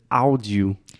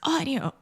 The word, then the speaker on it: audio: We used to, and then you were like, it's audio. Yeah. And now we say it correctly. So imagine this A-U combination in English. Most of the time, these two sounds combine together and they produce the aw sound.